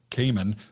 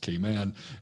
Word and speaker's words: Cayman: As a Southerner, I call it Cayman, but it's really pronounced Cayman.